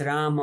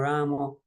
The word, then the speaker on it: Rama: So if the bhakti and devotion is there, whether it's Rama or Ramo, it doesn't really matter so much to Krishna.